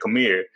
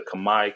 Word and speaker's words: Khmer: I've seen the word Kamae and I always said Khmer, and I'm like, am I saying it right? Is it Kamae? It's Kamae. You're saying it good.